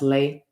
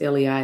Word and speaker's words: lei: go around the neck is that pronounced lay i believe it is lei that's what i'm saying